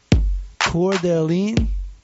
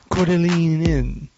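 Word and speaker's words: Coeur d'Alene: Cordeline. It's French. You just say it really quickly, and you don't mention all the syllables or the consonants. Cordeline Inn.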